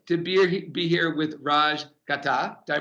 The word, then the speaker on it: Ghatak: Super excited to be here with Raj Ghatak. Did I pronounce that correct? Gatak, yeah, that's right.